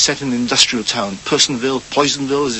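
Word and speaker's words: Personville: Poisonville, as it's pronounced, described as an ugly town in an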